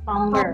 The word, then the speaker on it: plumber: Plumber. Plumber. How do you say it? Plumber. Plumber. So with the silent B.